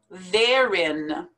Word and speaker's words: therein: put them together herein therein therein the word there the word in put them together therein bias bias salmon do